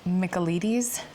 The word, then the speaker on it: Michaelides: Okay, so ChatGPT says it's Michaelides.